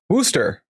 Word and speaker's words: Worcester: Worooster.